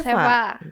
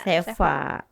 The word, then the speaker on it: Cheva: Bener ya dibacanya Iya, Seva. Tulisannya CHEVA. CHEVA benar. Seva.